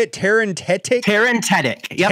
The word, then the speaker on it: Terentatek: Tarantetic? Tarantetic. Yep, Tarantetic.